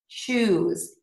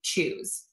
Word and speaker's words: choose: So if you see a verb that's spelled with S-E, like arouse, appease, mm-hmm. choose, those are all going to be pronounced with a Z.